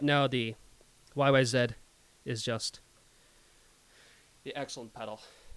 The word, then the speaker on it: YYZ: more okay fantastic yes i said yyz because that's how they say in canada land and that is how